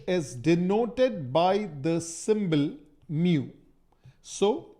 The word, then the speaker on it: mu: of friction which is denoted by the symbol mu so it's pronounced as Mu this is the symbol that